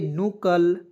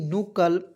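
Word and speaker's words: knuckle: एल ई देखिए कुनकलमरू के को साइलेंट कीजिए एन यू सी के एल ई तो दोस्तों इसे पढ़ेंगे नकल एन यू सी के एल ई नकल ठीक है और इसका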